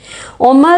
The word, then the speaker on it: عمر: سعد، عمر بن حجاج، ان دونوں ناموں کے پہلے حصے کا تلفظ الگ الگ ہے۔ عمر بن سعد میں عین کے پیش کے ساتھ ہم پڑھتے ہیں اور عمر جس کے آگے واو ہے اس کو ہم عین کے زبر کے ساتھ پڑھتے ہیں۔ عمر